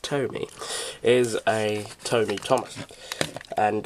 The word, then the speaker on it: TOMY: I think it's I think you'll find it's pronounced Tomy is a Tomy Thomas and uh as you